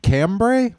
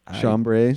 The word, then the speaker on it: chambray: It's like cambray. How you say it? Chambray.